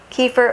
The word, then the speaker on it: kefir: So that's why I'm going to plug more of the yogurt drinks or kefir. Actually, my intern and I looked up the pronunciation, K-E-F-I-R, kefir or kefir, if you will.